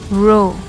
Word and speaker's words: rho: correlation in the population it is pronounced row the sample correlation coefficient